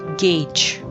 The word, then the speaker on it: gauge: word for measuring tool it's pronounced as gauge gauge not gauge gauge mark out the details of the surface with a gauge who doesn't like to